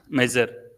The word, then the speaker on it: measure: Similar to that, there are another set of words which I want you to pronounce. Measure.